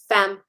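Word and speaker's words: Faim: what's the proper pronunciation fem it's um a French word for Hunger fem as in like fam so like I'm hungry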